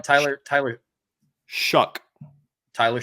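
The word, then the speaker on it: Shough: name right Tyler Tyler shuck Tyler shuck okay it's pronounced like s u c k okay I don't know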